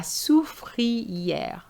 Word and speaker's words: soufrière: La soufrière. Okay, so here you have OU, the sound OU, then free, then air.